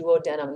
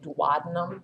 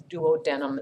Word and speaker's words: duodenum: It's called the duodenum. That's how that's pronounced. Some people say duodenum, and that's not correct. It's duodenum is how we say that.